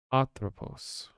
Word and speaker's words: Atropos: does it pronounced uh emphasis is put on the a at the beginning so it's arthropos octopus okay now where